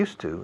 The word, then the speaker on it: used to: Y otra vez, la pronunciación de used to, esas dos palabras, used to, se pronuncia como monasterio de Yuste, cambiando la E final a una U.